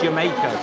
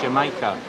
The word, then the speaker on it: jamaica: It's spelled Jamaica, so Jamaica, but it's pronounced Jamaica.